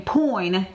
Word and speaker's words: Poin: Keep in mind, I'm saying Poin, P-O-I-N, for those that cannot hear me phonetically saying that.